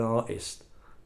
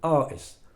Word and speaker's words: artist: They go, "I want to be an artist." An artist? You mean an artist? You want to be a musical artist? There's a T in it somewhere.